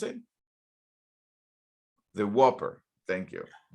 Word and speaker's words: Whopper: millions and millions of dollars on the name Whooper Whooper or how do you pronounce it the Whopper thank you right this is true and it